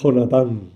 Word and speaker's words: Jonatán: hablando de Jonathan el hebreo se dice Jonathan yo inicial en castellano se pronuncia jota por tanto no digáis Jonathan como los ingleses que el inglés queda muy bonito pero el Castellano es jonatán lo siento por lo